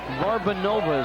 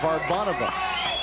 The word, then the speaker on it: Varbanova: the most mispronounced name varbanova is what everyone calls her but it's VAR Bova and it's Tor laava